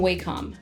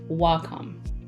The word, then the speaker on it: Wacom: So first things first, I've been pronouncing this brand all wrong for the past decade. I was saying Wacom, but it's actually Wacom.